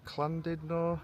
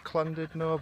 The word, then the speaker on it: Llandudno: If you're Welsh, you pronounce it. Clandidno. Correct me if I'm wrong if you're from around here. I'm not the best with it. Comment down below. I think it's Clandido, but we're going to call it Landidno.